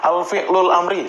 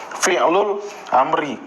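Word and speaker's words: فعل الأمر: Kalau dipakai alif lam di awalnya salah ya nyebutnya alfi'lul amri salah ya penyebutannya harus fi'lul amri.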